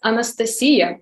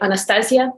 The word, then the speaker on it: Anastasiia: And the name in Ukrainian sounds as Anastasiia, but I think it might be pretty tough to pronounce this in English. So most people say Anastasiia, and that's okay.